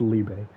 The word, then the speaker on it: Liebe: would kill him and this when she meets liebe is later after she she gave away Austin to dodge Village I thought I was saying his name wrong the entire time but no idea is it's Libre and so he he meets her and she